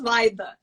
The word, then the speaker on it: Vaida: Secondly, I want to make sure that I pronounce the young lady's name correctly. So, I need a tutorial. Okay, my name is Vaida.